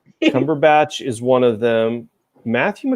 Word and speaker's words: Cumberbatch: I always want to say Cumberpatch. Cumberbatch is one of them.